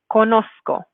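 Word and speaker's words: conozco: after me conosco so make sure that you're pronouncing for that that saita that if you're in a native english speaker that you're not going to make it like a z sound now depending on where you are in the spanish-speaking world there is a little bit of variation on how this letter is pronounced but wherever you go it's true that this the sound we have in english does not exist in spanish so either you're going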